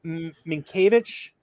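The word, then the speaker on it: Mientkiewicz: played right field doug minkiewicz that's how you say his name that's how you say it it's spelt different than you say it just like mellow it's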